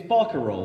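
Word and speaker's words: barcarolle: yeah I have to ask Robert questions is Barker role the pronunciation for boat song but yeah yeah cool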